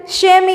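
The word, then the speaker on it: chamois: शेमी, देखिए यहाँ पर एक वर्ड है जिसका प्रोनाउंसिएशन शेमी करना है।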